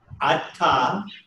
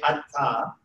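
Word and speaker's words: אתה: एफ लिखा होगा So, here's the word, atta, everybody say atta.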